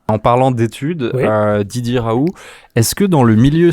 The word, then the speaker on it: Raoult: Alors c'est Raoult. Hein. Raoult. Voilà, Très on ne bien.